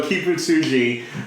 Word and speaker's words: Kibutsuji: But yeah, so Kibutsuji.